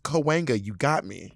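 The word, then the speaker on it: Cahuenga: them don't make sense and they're hard to pronounce it took me a while to get kawanga uh-huh and L.A people are not chill about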